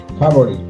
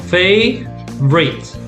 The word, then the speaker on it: favorite: Favorite. 2 syllables. Favorite.